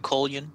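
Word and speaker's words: Kolyan: You could pronounce it Colyan if you'd like to. I'm saying Coylyn.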